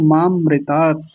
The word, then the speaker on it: मामृतात: तो अमृतात ही बनेगा लेकिन संधि विच्छेद थोड़ी करना है हमें तो उच्चारण करना है अगर अलग करेंगे अर्थ जब देखेंगे इसका तो मा अलग करेंगे और अमृतात अलग करेंगे लेकिन अभी तो जैसा लिखा हुआ है वैसा ही बोलेंगे मामृतात ठीक है जी बोलिए ओके